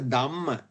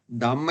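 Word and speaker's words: damma: Usually a lot of people actually pronounce the aspiration here. Like Dhamma. Right? It is wrong. It is Purisa Dhamma. Dhamma is, because it's the taming of the Purisas, not Dhamma. The aspirated one has a different meaning. Now this is Purisa Dhamma. There's no H here.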